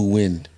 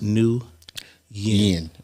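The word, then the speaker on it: Nguyen: let me go back new wind new Yin Yin or win pronounced new Yin right or or win okay I went to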